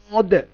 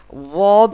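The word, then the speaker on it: ض: তারপর বর্ণটি হচ্ছে ওয়াদ। জিহ্বার একটা সাইড, ডান সাইড অথবা বাম সাইড আমাদের দাঁতের গোড়া স্পর্শ হবে, সেখান থেকে ওয়াদ উচ্চারণ হবে।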